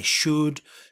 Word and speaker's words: should: I should, you should, he should, ¿vale? Importante, la L no se pronuncia.